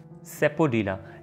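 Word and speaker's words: sapodilla: अब अगेन अगर आप गौर करें तो अक्सर लोग इसको क्या कहेंगे, सेपोडिला, सेपोडिला या सापोडिला, क्योंकि स्पेलिंग ही इस तरह के हैं। और हम चूंकि नॉन नेटिव स्पीकर हैं तो हमारी पहली कोशिश ये होती है कि हम स्पेलिंग्स को जोड़ के वर्ड को प्रोनाउंस कर दें, लेकिन सम टाइम वर्ड्स की प्रोनाउंसिएशन डिफरेंट वे में की जाती है। तो इस वर्ड को आप सापोडिला या सेपोडिला नहीं कहेंगे बल्कि सेपोडिला, सेपोडिला, राइट?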